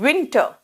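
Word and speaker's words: vent: winter देख रहे हो किस कर रहे हैं विंटर और जब वी बोलोगे ना जैसे वी ई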